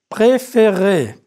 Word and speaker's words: préférer: When you conjugate the verb préférer, you need both sounds. Prononcez, préférer, But je préfère, tu